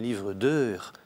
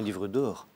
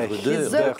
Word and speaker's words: livre d'heures: Il faut dire un livre d'heures. Un livre d'heures, ce n'est pas un livre d'or. Oui, il faut qu'on entende bien, un livre d'heures.